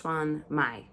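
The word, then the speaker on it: shumai: I wrote a bunch of the pronunciations in here, but I'm so bad on this one. Uh it's shuan mai.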